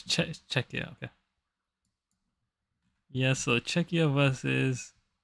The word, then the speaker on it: Czech: I keep on thinking Czechoslovakia exists but is separate now. All right. Yeah, it's check.